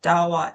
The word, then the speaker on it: Dahua: So, you are the channel sales manager of Dawa Technology. Did I pronounce that right?